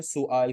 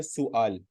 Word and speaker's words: سؤال: اسئلہ جمع ہے سوال کی، اردو میں ہم بولتے ہیں سوال. ٹھیک ہے، لیکن عربی میں اس کا جو صحیح تلفظ ہے وہ ہے سؤال.